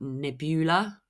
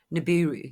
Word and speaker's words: Nibiru: Is it Nebula? I don't know if I pronounced that correctly. And they Nibiru. Nibiru, yeah, and they came to Earth, and basically